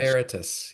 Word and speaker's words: Veritus: And so anything it's spelled V E R I V R I T-Us group in my brain I couldn't say it. Veritus Tus. Veritus. Yes.